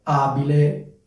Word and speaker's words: abile: la cosa importante è Ricordarsi che la vocale è accentata quindi è abile ibile come dicevo questo suffisso